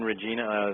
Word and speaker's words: Regina: They call it Regina. Although really? it's named after Queen Regina, the Queen Mother, but it's actually pronounced Regina in Canada.